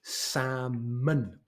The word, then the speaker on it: salmon: this is a salmon the L is completely silent it's like the W of Sword we don't need it it's a samon and so number 10